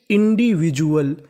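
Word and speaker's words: individual: क्या पढ़ते हैं डुअल यानी आपको इंग्लिश में कभी डी यू एल लिखा मिले तो आपको उच्चारण उसका जुल करना है ना कि डुअल तो मीनिंग बनी इंडिविजुअल इंडिविजुअल इंडिविजुअल का मतलब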